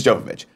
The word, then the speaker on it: Jovovich: of you whatever uh mil Jovovich it's Jovovich um at least that's how I've heard it pronounced in the late 90s